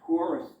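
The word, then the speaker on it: torus: that Taurus cover, and it is a Taurus, it's spelled T-O-R-U-S, like two Russ.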